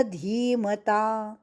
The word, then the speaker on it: धीमता: तव शिष्येन तव शिष्येन धीमता धीमता का धी दीर्घ शिष्य शी और उसके